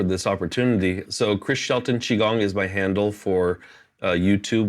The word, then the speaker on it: Qigong: So Instagram, Facebook is Chris Shelton Qigong, and that's spelled Qigong, not Chigong.